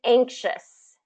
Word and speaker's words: anxious: the other one is anxious anxious so we have that same beginning ang kind of gets to shus anxious does anybody want to